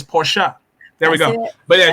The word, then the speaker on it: Porsche: for anybody in here you heard her say porsha that is exactly the proper pronunciation and i learned that from angela reed